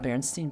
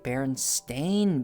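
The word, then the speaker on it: Berenstain: So much so that when I discovered that the Baronstein bears is spelled it's spelled B E R E N S T A I N, right? Baron Stain Bears.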